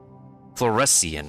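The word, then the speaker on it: fluorescein: How how does the IPA pronounce it? fluoresian.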